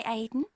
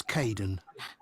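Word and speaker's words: Kaeden: Hi, Aiden. Uh, it's Kaden.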